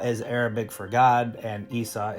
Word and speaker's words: Issa: Arabic for God and Issa is Arabic for Yeshua Yeshua is G Hebrew